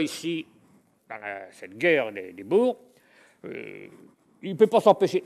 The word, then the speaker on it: Boers: Boers, on doit prononcer Boers, on doit prononcer à la française, si vous voulez, la guerre des Boers.